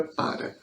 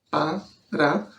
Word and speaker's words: para: gente pronuncia a palavra para. Ela é, a princípio, uma palavra com 2 sílabas, para, mas na oralidade, muitas vezes a gente tira esse primeiro a e fala simplesmente para.